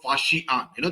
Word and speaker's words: Faxian: There was a Chinese traveler called Faxian. That's how it is pronounced.